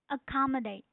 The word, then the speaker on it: accommodate: So the stress is on second syllable which is ca.